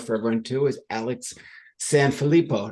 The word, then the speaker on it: Sanfilippo: everyone two is Alex San filipo did I pronounce that correctly Alex you did which is extremely rare thanks Timothy try to